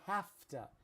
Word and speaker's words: have to: I have to. It s It sounds like it's spelled h a f ta.